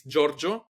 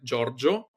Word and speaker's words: Giorgio: It's Giorgio, like George, but in Italian, Giorgio, _Arcamone.